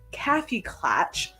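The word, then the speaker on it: Kaffeeklatsch: without the S comes from the German word caffy clatch spelled with the S so I guess so without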